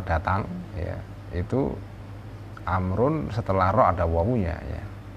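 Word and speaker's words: عمرو: sekali untuk diketahui ya kalau kata Oma Rain rok-rok setelah rok gak ada wow ya itu bacanya Umar tapi kalau setelah Road dawu itu bacanya amrun jadi bisa sahabat Amr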